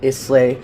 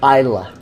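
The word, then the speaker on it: Islay: the pronunciation it's not a sleigh it's not it is la its ila so think of how a Scotsman would say it 1/2 ounce and you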